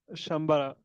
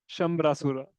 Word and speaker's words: Śambarāsura: Yeah, it's not uh, Shambara, Sambar. It's Śambarāsura.